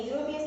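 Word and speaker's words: European: या फिर यूरोपियन बोलेंगे, यूरोपियन की भी स्पेलिंग ई से शुरू होती है, यूरोपियन।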